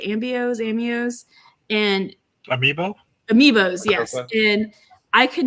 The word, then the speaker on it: Amiibos: Amios, and Amiibos, yes.